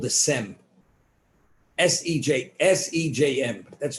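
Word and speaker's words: Sejm: europe the parliament in poland was called the sem s-e-j-s-e-j-m that's it's pronounced sem and in parliament that representation of the jewish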